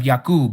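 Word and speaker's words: Yaakov: the mighty one of Yakoob, you may know him as Jacob, has sent me to you.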